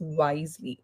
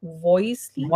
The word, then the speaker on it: wisely: And secondly, when you speak wisely, the word is wisely. Voicely, it Wisely.